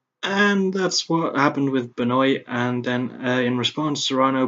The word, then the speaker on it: Benoit: The first time I'd seen the fight is Ryan Benoit, not Benoit, despite how his surname is spelled.